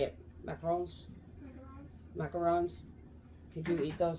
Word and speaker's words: macarons: um so hey Abby do you want these macaroons how do you say it macarons macarons can you eat those so I don't